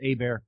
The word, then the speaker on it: Hebert: Kyle Hebert calm but it's pronounced a bear like a bear is attacking Leo DiCaprio but yeah you can